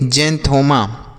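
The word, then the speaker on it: xanthoma: जेंथोमा।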